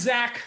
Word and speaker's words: Zach: so my name is zach it's a solid single syllable name for a white dude that zach with an h the ack that's way too close to the word sack for me god forbid your